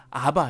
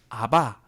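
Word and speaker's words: אבא: 아바 아버지 라는 호칭이 아바 해요 그걸 그냥 아 우리가 친근하게 부를 때 우리 랑 비슷해요 우리가 아빠를 친근하게 볼 때 아빠라고 부르잖아요 아버지 라고 하지 않고 그쵸 똑같은 거예요 그 발음이 거의 비슷합니다 아 아람어로 아버지를 친근하게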